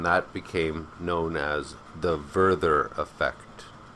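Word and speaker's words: Werther: became known as the vther effect it's spelled w e r t h e r but in German every W is pronounced like V and every V is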